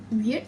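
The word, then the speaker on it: wyrd: One way of pronouncing it is weird, similar to how you would pronounce W-E-I-R-D.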